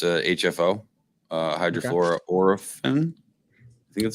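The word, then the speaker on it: hydrofluoroolefin: this new refrigerant it's 513a it's a hfo hydrofor Oren that's how you pronounce it and so uh it's basically 134a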